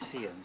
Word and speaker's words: Siam: It says Ploy Siam, but here they pronounce it Siam. So you go to Bangkok, it's not Siam Square, it's Siam Square.